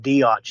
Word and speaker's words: Diot: fun of lou because his last name is spelled d-i-o-t and they want to call him idiot instead of diots you know because it's ad and i on the front of it because lou is kind